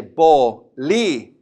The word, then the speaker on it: bolígrafo: But for now, just know that when you see one of those accents, it's there to tell you I'm special, and you got to say me a little bit stronger. Okay? So we're going to say that syllable a little stronger than the other ones. I like to tell my students to step on it a little bit. So we're going to say bolígrafo. Bolígrafo. Okay?